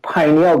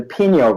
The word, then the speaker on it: pineal: This third eye is actually the pineal gland, or the pineal gland. Some people pronounce it pineal gland, some call it pineal gland. I like pineal gland better.